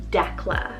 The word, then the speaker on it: Decla: love it it's the name decla spelled d-e-c-l-a declass it's almost like the